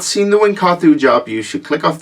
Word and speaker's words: Wynkahthu: it was like, how the F do you pronounce it? But Wynkahthu.